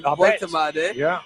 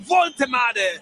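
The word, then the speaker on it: Woltemade: And if you listen to my halftime report, English fans are having a difficult name pronouncing his name. Volto. So that's why I had to remind THEM IT'S CALLED VULTARE.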